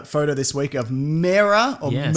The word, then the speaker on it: Mera: We got a photo this week of Mera or Yes. Mera. How do you say it? I say Mera? Yeah, I say Mera as well.